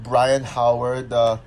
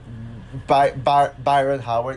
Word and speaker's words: Byron Howard: And it's directed by Brian Howard, Byron Howard. Yeah, that's a pronunciation.